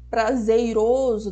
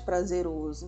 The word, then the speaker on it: prazeroso: não pode é mortadela ou prazeiroso no lugar de prazeroso então isso são alguns